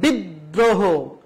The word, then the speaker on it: বিদ্রোহ: দৃত্ত উচ্চারণ হবে যেমন বিদ্রোহ এই যে দ এর সাথে একটা র ফলা রয়েছে সেজন্য দ বর্ণটা দুইবার উচ্চারণ করা হয়েছে বিদ্রোহ দৃত্ত উচ্চারণ হয়েছে